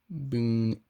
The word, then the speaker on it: Boone: Boone County. Or Boone County. Kind of E is silent.